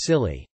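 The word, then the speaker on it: Scilly: that's a real thing the isle of silly pronounced silly and netherlands are not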